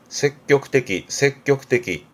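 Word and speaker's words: 積極的: 적극적, 발음은 색격떼기.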